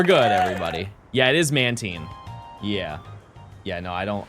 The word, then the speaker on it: Mantine: Yeah, it is Mantine. Yeah. Yeah, no, I don't like that one. I'll be honest with you. I think it's because it's supposed to rhyme with marine.